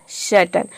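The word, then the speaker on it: certain: AI का हो जाएगा अ, एन का हो जाएगा न, तो इसका प्रोनाउंसिएशन बनेगा सर्टन।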